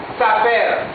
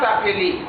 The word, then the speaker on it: s'appelle: Ici, attention, s'appelle, pas s'appeler, pas s'appeler, s'appelle, s'appelle. Le mot-ci se prononce État, État, État, État.